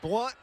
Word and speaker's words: Blount: I appreciate your correct pronunciation there because no one in Maraveville has ever pronounced it Mville. That's right. In in Blunt County, not Blount County.